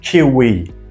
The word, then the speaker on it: kiwi: Kiwi.